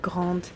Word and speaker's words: grande: If it's a girl, she would add a E and pronounce the D. Quand je serai grande.